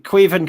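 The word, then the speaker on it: Caoimhín: as black hammer saying queven kelleher has had an unbelievable season did i pronounce that right adam you did yeah yeah yeah thank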